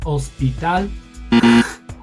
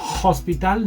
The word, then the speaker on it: hospital: Escuela, banco, negocio, periódico, taller, hospital, hospital, no, hospital, H, we don't pronounce, no decimos H.